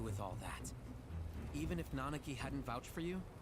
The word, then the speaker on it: Nanaki: was n yeah nanaki I used to call him the Naki but here it's pronounced nanaki wonder if I heard